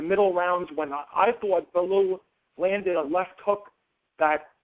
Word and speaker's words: Bellew: know the fighter, but I always want to call him Bellew, and I don't think that's right. How do you pronounce it? Bellew is right. You were correct the first time.